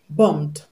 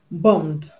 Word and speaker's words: bombed: b e d bummed now what's the last sound in the word bmed the last sound in the word bummed or the last sound in the root word of the word bummed is m m m is it a voice consonant or a voiceless consonant m m is a voic consonant m is a vo consonant so you're going to